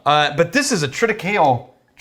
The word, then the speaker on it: triticale: but this is a triticale treaty don't say cole don't it's the correct pronunciation of that grain pretty cola i mean